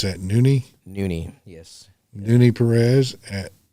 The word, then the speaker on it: Nune: And you pronounce that Nuni.